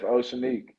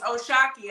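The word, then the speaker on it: O'Shaquie: Oceanique, they're like, no, it's Oshaki. I'm like, that's Oceanique.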